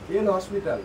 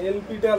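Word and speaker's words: L'Hôpital: আমি ম্যাথমেটিশিয়ান কিনা বাট একটা রুল এল হসপিটাল ভাই বলে আমরা হসপিটালে তৈরি মানে এল পিটাল বলে অনেক সময় হ্যাঁ এল পিটাল কিন্তু আমরা উচ্চারণ করি এল হসপিটাল তো আমাদের সুবিধার্থে আমরা উচ্চারণ করতে পারি কোন অসুবিধা নাই তো রুলটা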